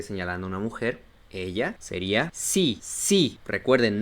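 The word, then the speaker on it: sie: una mujer ella sería si si recuerden no se pronuncia la e porque es la regla de la i y luego la e una I larga si y para cuando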